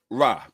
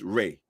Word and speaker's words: Re: lot of work okay it's not ra people pronounce it incorrectly it's re okay it's pronounced re